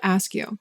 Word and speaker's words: Askew: Askew. Just like ask you a question.